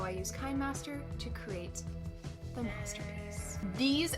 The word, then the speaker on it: KineMaster: i'm super excited because i've teamed up with kai master editing morgan just wanted to clarify that the correct way to pronounce this is kinemaster not kinemaster so i apologize in advance for a handful